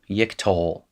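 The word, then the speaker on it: יִקְטֹל: vowels are like so you have a closed unaccented syllable herrick yik and a holum and the second syllable yiktol and then you're going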